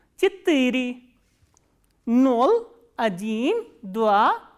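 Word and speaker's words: четыре: For 4, we use a little different word which is chittiri, ch, ye, ta, I, ra, ye, and stress is on I. Chittiri.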